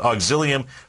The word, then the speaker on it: Auxilium: this auxilium there you go that's how you pronounce it auxilium Pharmaceuticals Au uxl they are up 7% so